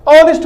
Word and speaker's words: honest: Word formation को देखेंगे, तो आपको तो यहाँ एच दिखेगा, लेकिन इसका फोनेटिक साउंड क्या है? फोनेटिक साउंड मतलब इसकी साउंड क्या है, इसका जो हम उच्चारण करते हैं, जब इसका हम प्रोनाउंसिएशन करते हैं तो आप देखिएगा ऑनेस्ट बोलते हैं।